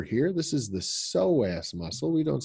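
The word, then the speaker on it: psoas: separate like over here this is is the soas muscle we don't say p soaz we say soaz muscles okay but if we put an ILO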